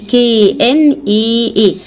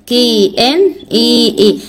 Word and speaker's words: knee: ركباني KNEE KNEE. الكي هنا سايلنت ما بتتنطقش. تمام.